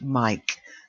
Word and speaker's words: mic: short for microphone so even when it's written short it still pronounced Mike they've got the microphones